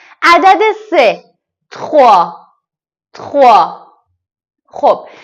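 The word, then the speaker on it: trois: سه تخوا تخوا خب نکته‌ای که داره اینجا تخوا نمیگیم اتخوا اتخوا اتخوا نمیگیم اگه اتخوا بگیم به نظر من درست از اینه که تخوها بگیم ببینید اینجا ت رو فقط خیلی سریع از روش رد میشه فقط انگار که یه تاچش تاچش تاچش میکنیم تخوا چند بار تکرار کنید دستتون میاد که چطوری این کلمه رو تلفظ کنید تخوا عدد ۴ کتخ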